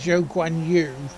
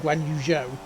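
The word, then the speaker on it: Guanyu: Pronounced this guanu rather than guanuh cuz it's surnamed in forname, isn't it?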